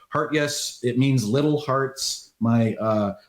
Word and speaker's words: Hartjes: I believe it's actually properly pronounced Hartjes.